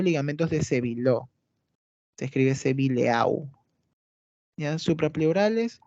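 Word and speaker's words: Sébileau: Ligamentos suprapleurales o ligamentos de Sevillot. Se escribe Sevileau.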